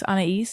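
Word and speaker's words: Anaïs: perfume I had was is it pronounced Anais on a East yes yeah I think yeah I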